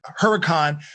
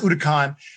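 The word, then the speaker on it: Huracán: the sto because right now they have the utah khan or some people say huracan but it's pronounced udacon but they have an sto i think i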